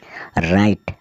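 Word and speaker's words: write: ऐसे वर्ड्स जिसमें डब्ल्यू जो होता है वो साइलेंट रहने वाला है डब्लू आर आई टी ई राइट राइट का अर्थ होता है लिखना ए एन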